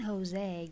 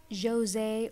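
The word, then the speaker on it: José: I keep saying Jose, guys. By the way, this name, it can be pronounced as Jose or Jose because it's not an English name, it's a Spanish name.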